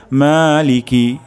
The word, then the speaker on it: مالك: প্রথম শব্দটি হলো মা, অর্থাৎ এখানে এক আলিফ পরিমাণ টান হবে। তারপর শব্দটি হলো লিকি, লিকি এখানে টান হবে না, দ্রুত পড়তে হবে। লিকি মালিকি মালিকি মালিকি।